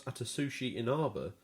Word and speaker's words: Atsushi Inaba: Microsoft, the game's publisher, took a lot of the heat about the cancellation, but Platinum boss Atsushi Inaba says Platinum is to blame as well. Great pronunciation on his name.